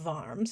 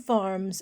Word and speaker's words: Worms: if you show up at the town of farms it's pronounced farms but spelled worms if you show up at